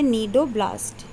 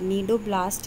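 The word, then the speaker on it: cnidoblast: होते हैं, ठीक है, ये तो है नीडोब्लास्ट, सी इसमें साइलेंट है, नीडोब्लास्ट है ये, ठीक है, इसके अंदर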